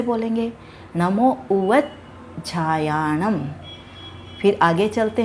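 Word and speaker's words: उवज्झायाणं: यहाँ पर देखिए जय और झय दोनों मिल रहे हैं, तो हमें क्या करना होगा, जय का उच्चारण पहले वाले शब्द उवज के साथ ले लेंगे और झायाणम को हम लोग अलग से बोलेंगे। यह प्राकृत का एक नियम होता है जिसे हमें फॉलो करना चाहिए और यही शुद्ध उच्चारण माना गया है।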